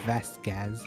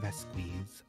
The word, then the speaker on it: Vasquez: again by the way it's pronounced vasquez not that squeeze god you're such an